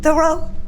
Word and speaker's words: Theroux: We pronounce it Theroux because in the Washington, D.C. public school system, they would call me Theroux, or they would never say Theroux. So we just simplified it to Theroux.